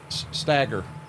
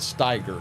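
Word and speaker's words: Steiger: the other one um it was amazing amazing stagger stagger is a I I've never pronounced it Stager I've always pronounced it stagger That's Green Mountain that's how we pronounce it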